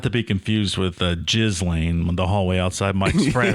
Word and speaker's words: Ghislaine: pronounced Ghislaine. I like it. Well, the S is silent.